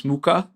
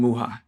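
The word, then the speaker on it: Mucha: which people don't know some people call him Alphonse muca some other people pronounce his name muha he did a lot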